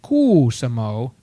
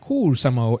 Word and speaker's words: Kuusamo: in the Kuumo and Kuusamo and Hossa area. Those are all proper pronunciation of Finnish towns, by the way. Of course. They like lots of letters repeated, and you must pronounce them all.